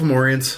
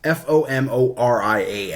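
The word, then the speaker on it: Fomorian: like no III love mauryans like no no are you pronouncing that correctly because we're more like you know if you know it's a foam Orient's fo mor ia and they're not for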